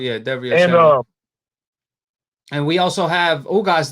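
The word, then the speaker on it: Derevyanchenko: Derevchenko. Yeah, Derevchenko.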